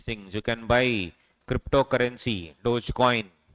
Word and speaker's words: Dogecoin: do all these things you can buy cryptocurrency Dogecoin it's pronounced as Doge coin right that is the